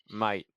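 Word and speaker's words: Máté: Well, if you're ready to get started, Mate, I'm saying that right, yeah? Mate, I'm Mait, really, yes, Mate. you're saying it very right. Very few people say it right.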